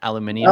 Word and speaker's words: aluminium: disappointed Clark that it's not the British spelling and pronunciation aluminium oh look at this